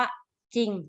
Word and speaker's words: จริง: ตัว เรือ กล้ำ แต่ เวลา ออก ก็ จะ ไม่ ออก เสียง ตัว รอ นะ คะ มี อยู่ คำ เดียว เท่า นั้น ที่ ขึ้น ต้น ด้วย จอ จาน คือ คำ ว่า จริง นะ คะ เนี่ย คำ